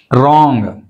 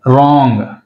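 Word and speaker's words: wrong: రాంగ్, W silent, రాంగ్.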